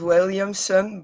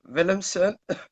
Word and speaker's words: Willemsen: On Facebook, yeah, it's not Williamson, but Willemsen, but you don't have to pronounce it.